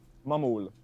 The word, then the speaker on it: Maghmul: Magmul is an Maggie, artist. Mamul, whatever name you go Yeah, by. how do you pronounce it yourself? Mamul.